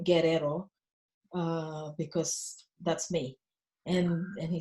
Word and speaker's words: Guerrero: Well, my surname is pronounced Guerrero. It's a Spanish surname, actually.